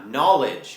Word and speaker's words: knowledge: นั่น เอง นะ ครับ คำ นี้ ก็ ออก เสียง ยาก หน่อย เพราะ ว่า มัน ลง ท้าย ด้วย เสียง ด เด็ก แล้ว ก็ จาน ด้วย นะ ครับ แล้ว จาน ของ เรา ก็ ต้อง เพิ่ม เสียง ที่ ลำ คอ นิด นึง ด้วย นะ